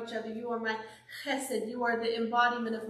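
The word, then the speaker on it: חסד: And that word is chesed.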